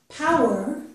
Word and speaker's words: power: This word, power, is different in a few ways. The first way is that power has two syllables, and The two words poor only have one syllable.